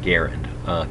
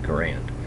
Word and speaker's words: Garand: out from the research he preferred to have his name pronounced like the word errant although I grew up calling it an m1 garand so I'll probably slip